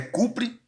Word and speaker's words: cobre: Então, hidróxido, a pronúncia do cobre é cupre, tá certo?